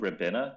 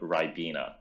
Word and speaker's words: Ribena: And yeah, so that's not called Ribena, that's called Ribena. That's how we pronounce it over here.